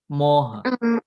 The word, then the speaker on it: moha: And there is another Pali word, moha. It's pronounced as moha.